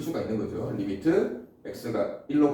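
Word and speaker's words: lim: 자, 가까워진다라는 기호가 Li으로 쓰고 읽을 때는 리미트. 단어 알죠? 리미트. 여기 IT가 생략돼 있는 거야.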